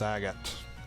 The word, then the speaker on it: Agate: me you'll be careful agate don't do anything too crazy okay so it's agate gotcha i've said it wrong for both the main